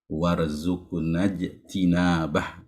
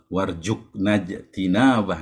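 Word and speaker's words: وارزقنا اجتنابه: Warzuqnajtinabah ya. Jangan sampai warjuqnajtinabah ya. Dua kali jim jadi seperti itu.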